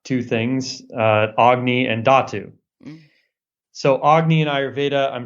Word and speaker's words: dhatu: subtle ways and then datu which is spelled dhatu is a tissue it's